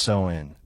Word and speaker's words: Samhain: Samhain, pronounced Samhain, marks the line between those halves.